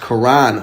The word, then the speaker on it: Karan: actually found out that the name is actually pronounced kran Phillips and Karan is not a